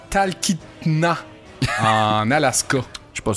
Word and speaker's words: Talkeetna: C'était à Talkeetna, en Alaska. Je suis pas sûr de ta prononciation. Ouais, prends-toi. Talkeetna.